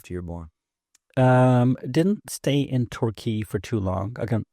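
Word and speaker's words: Torquay: me where were you born a place called turkey what yeah where's a place called turkey in England yes tury so it's spelled t o r q a y and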